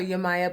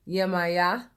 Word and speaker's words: Yemaya: in particular is yet Yemaya I call her you Maya but a lot of people pronounce her name yeah Maya that I call her you Maya um little